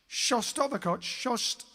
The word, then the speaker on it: Shostakovich: was that in 1942, Dmitry, I really can't pronounce this properly. Dmitry Shostakovich. Shostakovich.